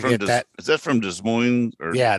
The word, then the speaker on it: Des Moines: Is that from Des Moines? Yeah, Des Moines. The S is silent. Both S's are silent. Did it on purpose. Des Moines. Des Moines.